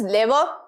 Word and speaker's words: lever: Here the lever and this is not lever, the pronunciation is lever, inclined plane, pulley, screw and wedge।